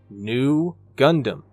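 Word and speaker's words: ν: would become Zeta so the Greek letter in lower case you know looks like a V but is phonetically new like the English word new so we get new Gundam get it huh get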